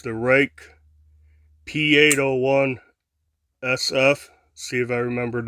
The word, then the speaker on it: Ruike: If you haven't seen any videos, when they first came out, people were calling all kinds of things Ruike, but it's actually pronounced Rake.